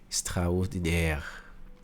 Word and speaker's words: extraordinaire: Quando você vê o A e o I do francês junto, ele vai ter um som de E, tá? Algumas coisinhas você já vai pegando, ó. Igual aqui, ó. Extraordinaire, né?